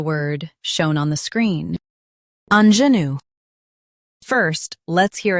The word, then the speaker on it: ingenue: US says INGENUE, UK says INGENUE. Focus on the zh sound.